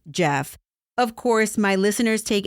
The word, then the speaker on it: Geoff: Last week I referred to one of the suspects as Geoff because his name was spelled Geoff. But guess what? Silly me, it's actually pronounced Jeff.